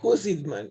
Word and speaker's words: Jusidman: Dígame, por favor, doctora, si estoy pronunciando bien Está su bien. apellido. ¿Sí? Husitman, sí.